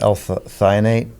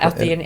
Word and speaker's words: L-theanine: Yeah, that I always mess up the name L-thionate. Is that how you say it? Yeah, L-theanine.